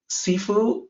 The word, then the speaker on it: sifu: pronounced differently sheer fool sifu with the s instead of sh comes from the cantonese dialect and that's where the